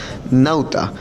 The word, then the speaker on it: Nauta: pronuncia pauta sin embargo los colonos cambiaron este nombre por una palabra latina nauta que significa marinero en la plaza cementerio